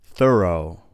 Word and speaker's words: thorough: Thorough, thorough. You can see, depending on the word, the GH sound is pronounced differently.